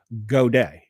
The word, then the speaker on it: Godey: Okay, so this word is Godey apostrophe S. So I'm pronouncing it Goday.